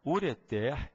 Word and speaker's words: ureter: por todo mundo tá o certo ainda que dou os nossos ouvidos ainda que seja incomum o certo é que se diga cateter ureter e maeter as três sem acento as três oxítonas tá repara que até